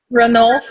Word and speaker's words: Ranulph: characteristics of Annabelle and, I always say his name wrong, Ranulph. Is that how you say it, Melanie? Ranulph is how I say it.